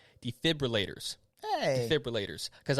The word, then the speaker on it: defibrillators: gonna get it right defibrillators hey defibrillators because i used to say it wrong a lot right there's no r after the f defibrillators do not start